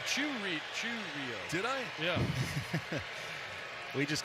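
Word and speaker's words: Chourio: Jackson hit the double how do you say his last name cuz Don orillo up here we kind of had a little bit of an argument yep that's what I've call cheio cheio yeah you said you said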